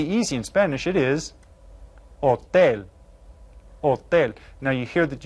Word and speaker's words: hotel: It is hotel. Hotel. Now you hear that you don't pronounce the H in Spanish, so it just sounds like hotel.